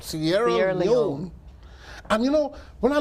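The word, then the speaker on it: Sierra Leone: you went to like Sierra leer Sierra Leon say it right Sierra Leon and you know when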